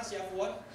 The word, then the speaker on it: Shavuot: Coba ngomong sama-sama, Shavuot. Mirip kayak Shalom begitu.